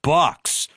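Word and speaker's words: Bucs: And then his first job was at the Tampa Bay Bucks. Rhymes with Ducks because that team was a cesspool before he got there.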